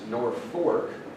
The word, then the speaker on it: Norfolk: and they say that half the people pronounce it nor fork and the other half pronounce it nor but you rarely hear